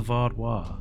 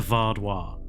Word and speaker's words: Vaadwaar: You're putting an R in there. Is it Vardois or Vardois? Say it's lovely. Vardois. You're saying Var. Vardois. But there's no R.